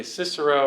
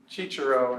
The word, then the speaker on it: Cicero: Okay, Cicero or Cicero in original Latin, because the C's you have to pronounce.